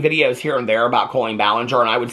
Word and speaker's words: Colleen Ballinger: been made about Colleen Ballinger we know that Colleen Ballinger is how it's it is pronounced so that's the one positive that came